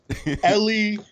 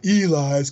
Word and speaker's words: Eli: You Eli. named after Denzel Washington movie, Book of Eli. Nobody knew that shit back when I was in school. It was like they always mispronounced my name. Ellie, Ely, Elias.